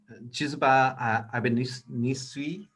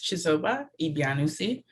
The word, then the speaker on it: Chizoba Ibianusi: And then Chizuba Ibinisu. I'll pronounce it. It's Chizoba Ibianusi.